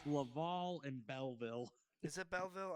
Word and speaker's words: Laval: Lavo versus Belleview or B. Is it Bell? You really butchered both of those. I don't care. It's Laval and Belleville.